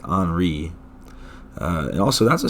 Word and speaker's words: Henri: it wrong last time i was saying henry which is understandable because it looks like henry right but i always forget that you know the french are stupid and have to pronounce everything wrong so it is in fact anri uh and also that's